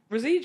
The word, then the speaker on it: Roseje: I'm gonna need to get to know because Rosie yeah is that that's how it's pronounced that's how I pronounce it I was born now so I called my dad Oscar okay Rosie all right so Connor Kelly if he's a